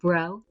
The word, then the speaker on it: Breault: I am Katie Breault, and I'm Chief Delivery Officer at YUPRO Placement. Not to be confused with Katie Breault. It depends on your dialect.